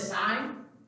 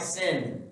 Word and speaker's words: sine: sine cosine and okay so the first one is sign it's actually spelled with an e but if you notice on your calculator it's just what it looks like sin please don't say sin it's a sin to call sign sin okay we'll talk about